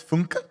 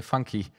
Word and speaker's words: Funke: next up is funke from tomorrow university wonderful thank you francis for pronouncing my last name right some others say funky but i'm actually